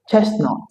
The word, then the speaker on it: chestnut: Silent T also appears at the middle of several common words like Christmas, Christian, mortgage, chestnut, and hasmalt.